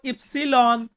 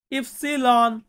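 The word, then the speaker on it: ipsilon: ওয়াই কে আমরা Italian ভাই এর সাথে বলবো ইফসিলন ইফসিলন এন্ড লাস্টে যেটা আছে সেটা হচ্ছে জেতা জেতা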